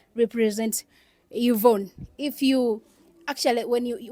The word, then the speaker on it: Yvonne: R represents Robert and Y represents Yvonne. If you actually, when you listen to her name, Yvonne, you may think her name should start with I, but in actual sense, it starts with Y.